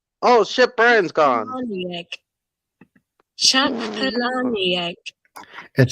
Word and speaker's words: Palahniuk: This is how you pronounce his name. Chuck Palahniuk. It sounds I'm like not sure. Palani egg. Like Palani egg. Palahniuk with a K at the end.